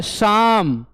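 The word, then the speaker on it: psalm: तो देखिए इसमें दो वर्ड साइलेंट हैं, इसमें पी भी साइलेंट है और एल भी साइलेंट है ना। दो वर्ड साइलेंट है, पी और एल। ये क्या लिखा गया है, शाम, है ना, शाम पढ़ते हैं इसको, शाम ऑफ लाइफ, जीवन की धर्मगीत, विजय गान।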